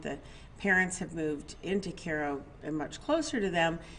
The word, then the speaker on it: Cairo: where they live in Koo Georgia to which I thought was Cairo because it's spelled the same as Cairo Egypt but it's Koo Georgia so um anyway they